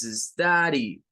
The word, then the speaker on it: study: Es study, es una AU, es una mezcla entre A y U la que se debe hacer. Study, study. Por eso, cuando se pronuncia, nosotros pensamos, nuestro oído latinoamericano, ¿verdad? Trata de captar el sonido y lo escucha como una A, porque no conoce esa vocal.